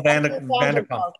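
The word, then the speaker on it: van der Kolk: Vanderkolk. I know, I always have trouble pronouncing his name.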